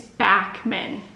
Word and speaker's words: Backman: I just realized I'm saying the author's name wrong too. Backman. It's Backman. Frederick Backman.